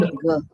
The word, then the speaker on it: मेघ: It's not man. Yes, gha. It's gha. Mahaprana है ये. Okay, Mahaprana means you have to put a lots of prana into it. Megh.